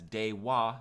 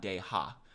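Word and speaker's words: では: So when you're reading this, make sure you read it as dewa, not deha. Like I said in the first lesson, if wa or the ha hiragana is a particle, then it's pronounced as wa.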